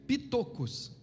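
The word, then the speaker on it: πτωχός: E esse esse humildes de espírito aqui, que algumas versões traduzem mais acertadamente como pobres de espírito é pitocos, né? Se escreve pitochos. Pitocos.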